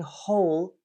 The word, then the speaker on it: whole: in your mind but in whole the H is pronounced and if you don't